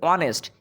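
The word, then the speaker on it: honest: তারপর দেখ অনেস্ট এইচ এর উচ্চারণ হচ্ছে না। হনেস্ট হচ্ছে না।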